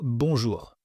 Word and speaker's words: bonjour: Par exemple, si vous prenez le mot bonjour. Bonjour. Ici, vous n'avez pas besoin d'insister sur le R, parce que cette lettre est placée en dernière position du mot.